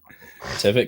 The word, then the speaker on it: Tivit: Tivit can pivot.